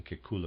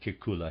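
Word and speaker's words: Kekulé: in chemistry readers aside I might be spelling pronouncing Kula wrong it's it's spelled k KU l e and there's a grav over the E and every read is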